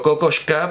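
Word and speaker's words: Kokoschka: e incluso Bueno claro Yo siempre digo cocosca porque entiendo que es un apellido Checo y Pero David Lynch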